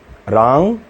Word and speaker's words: रां: बहुत लोग राम पढ़ते हैं। राम नहीं है। राम आ अं की बिंदी है ना?